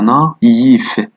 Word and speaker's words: naïf: Le tréma indique la séparation entre deux voyelles, permettant ainsi leur prononciation séparée. مثال هنا naïf naïf.